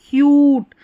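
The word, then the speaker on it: cute: अब देखिए ये क्या है? CUT को कट पढ़ेंगे, अगर CUT के बाद में ई लगाया तो क्यूट, ये कट और ये क्यूट, ऐसे बदल जाता है।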